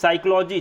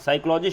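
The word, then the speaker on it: psychology: push number two piece साइकोलॉजी जिसको आफ साइकोलॉजी शब्द उसमें पीस जो है इंग्लिश में साइलेंट करता ध्यान रखिएगा ठीक है साइकोलॉजिस्ट शब्द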